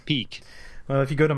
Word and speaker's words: Peeq: automation system called I'm going to let you pronounce it because I can't. Peak. All right. Peak. Not Not Peek. Peak.